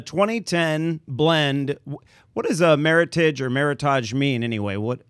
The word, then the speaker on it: Meritage: mean first of all Meritage just rhymes with Heritage that's the easiest way to remember it oh yeah and it's